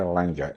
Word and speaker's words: Langer: could you please tell me your name and spell it my name is Langer l a n g r Hill's name